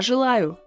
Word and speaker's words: желаю: So as you can see, this letter ye is unstressed. So that is why we need to pronounce it as e, but it comes after a wonderful Russian consonant zh, which is always hard. And it can also make vowels that comes after sound hard. That is why this E, so the sound E is pronounced as Y.